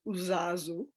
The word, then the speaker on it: uzazu: new word for it and the word is uzazu and it's spelled u-z-a-z-u and when i first started studying